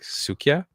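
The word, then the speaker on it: Suika: it right so I'm gonna spell it first and it's s UI Ka a so it's like sukia and it is a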